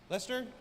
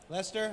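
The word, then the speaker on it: Leicester: How do you say? Is that Leasher? Lester. Lester.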